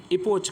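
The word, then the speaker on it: epoch: होता है युग जिसको इपोक कहते हैं, सॉरी इपोच कहते हैं या इपोक कह सकते हैं, CH है स्पेलिंग में।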